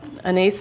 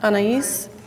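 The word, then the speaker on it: Anaïs: And I love what Anais Nin, is that how you pronounce her name? Anais, anybody know? Anais.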